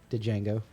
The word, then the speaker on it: Django: I know the D is silent. Django.